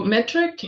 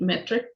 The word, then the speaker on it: METRC: Okay, so metric, and that's spelled METRC, metric without the I.